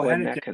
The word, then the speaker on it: Hennekins: Oh, Hennekins. That's my mom. How did you say it? Hennekins. Hennekins, okay. Like Heineken's almost.